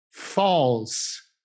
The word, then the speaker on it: false: False, false. Pronunciate il gruppo AL come se le due lettere fossero isolate, ognuna per conto proprio.